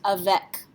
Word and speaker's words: avec: In French, this word would be pronounced avec. A C at the end of a word tends to be pronounced like a K, avec.